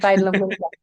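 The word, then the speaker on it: Fájdalom Klinika: I love your pronunciation. Yeah, it's Fajtalum Clinica.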